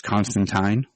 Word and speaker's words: Constantine: Yeah, and it was interesting because also they went with the British, I guess, proper pronunciation, where it's Constantine.